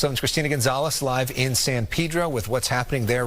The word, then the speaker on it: San Pedro: Yeah, I was saying San Pedro. It's San Pedro. Pedro. the way, and you might it's white people pronunciation.